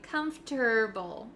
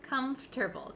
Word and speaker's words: comfortable: r saying comforter we don't say able we say herbal okay comfortable comfortable comfortable comfortable are you